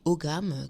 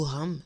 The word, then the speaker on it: Ogham: Il y a la célèbre histoire de l'alphabet des Celtiques, l'alphabet Ogham, que je vous mettrai, ou Ogham, ça dépend comment on prononce, que je vous mettrai,